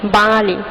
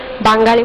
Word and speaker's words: বাঙালি: এছাড়া আরো অনেক শব্দ আছে তোমরা দেখতে পাচ্ছ, যেমন বাসি, বাঙালি। আমরা অনেকে বাঙালি বলে থাকি, কিন্তু এর উচ্চারণ হবে বাঙালি।